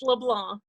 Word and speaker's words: LeBlanc: is silent. It's LeBlanc.